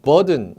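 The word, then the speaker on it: Bourdon: 이 돈 대신에 발음을 동 이렇게 할 수도 있는데 표현이 B-U-R-D-O-N 스펠링이 이렇게 됩니다. 그래서 이제 그 사람 국적 이름으로 발음을 무르동 또는 이응에 가는 무르동이라고도 하는 경우도 있고요. 무르돈이라고도 하는 경우도 있고 영어식 발음으로 그냥 미국식 발음으로 컴퓨터는 컴퓨터 하듯이 무르동이라고 안 하고 간혹 가다가 버든 이렇게 BUR, DON에서 버든식 압력계 이렇게 나오는 경우도 있어요.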